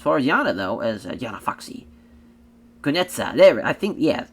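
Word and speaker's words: Kunitskaya: As far as Yana though, as Yana Foxy, Kunetsa. Kunetsa. because like, I think that K is silent, if I remember correctly, is how the pronunciation for that.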